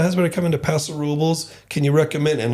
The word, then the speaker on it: Robles: are coming to Paso Robles. Can you recommend?" And like the number one thing people are saying, you cannot say Robles, and they spell it out Robles. You got to say Robles. Robles.